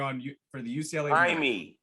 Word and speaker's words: Jaime: Jaime. It's Jaime.